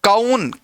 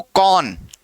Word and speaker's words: कौन: इसको कई लोग पढ़ते हैं काउन, काउन, काउन कुछ नहीं है। क्या पढ़ना है इसको, कौन, कौन।